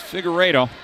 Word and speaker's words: Figueredo: you're an ALA fan, I was told that it's Figueredo.